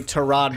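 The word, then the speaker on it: Tyrod: yeah to Rod Taylor I honestly have never heard anybody say to rod before but apparently that's how it's pronounced he just didn't correct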